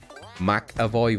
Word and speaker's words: McAvoy: If the letter following the Mac is a vowel, you pronounce it Mac. If it's a consonant, it's pronounced like Mick. McAvoy versus Mick Dermont.